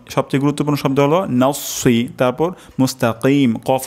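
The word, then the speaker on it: مستقيم: আরবি তেলাওয়াত করছি সবচেয়ে গুরুত্বপূর্ণ শব্দ হলো তারপর মুস্তাকিম কফ উচ্চারণ করা এখানে ক্ষেত্রে আমাদের কাফ হয়ে যেতে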